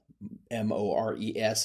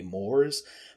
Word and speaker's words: mores: at it, it's spelled Mores. It looks like it should be mores, but it's actually French, so the pronunciation is mores.